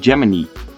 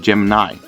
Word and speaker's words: Gemini: It is actually pronounced Gemini instead of Gemini.